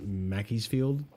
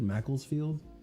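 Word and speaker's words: Macclesfield: Like Crystal Palace obviously didn't win against Mackey's Field. Is that Is that how you say it? Mackey'sfield. Macklesfield.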